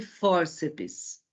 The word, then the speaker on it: fórceps: Depois temos terminação PS, bíceps e fórceps. Então, vamos à classificação da tonicidade da sílaba. Bíceps, sílaba tônica bi. Fórceps, for. Terminação PS, acentuação na penúltima sílaba.